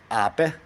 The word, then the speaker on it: Ape: in Italian the same word spelled ape it's pronounced AE and also anyway AE is the B and